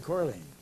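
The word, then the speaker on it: Colerne: Well, how do you pronounce it? Corleen.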